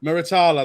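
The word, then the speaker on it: Muratalla: But how do you pronounce his name? I can't. Moritala. Miritala.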